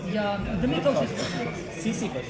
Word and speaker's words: Sisyphus: Sisyphus. It's true pronunciation.